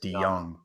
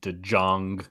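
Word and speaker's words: DeJong: young player um and it's Paul D young by the way guys DeYoung pronounced de Jong I like the state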